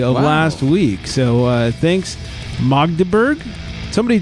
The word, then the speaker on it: Magdeburg: So thanks, Magdeburg.